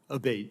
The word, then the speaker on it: Abate: I saying your name properly we've heard it pronounced three different ways today in the hearing aate Senator aate okay thank you um you had